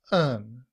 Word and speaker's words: then: However, in reduced form, then becomes un the schwah which sounds like uh and the letter n.